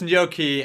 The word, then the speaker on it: gnocchi: no key is that it's pronounced gnocchi and it's made from potatoes so potato okay is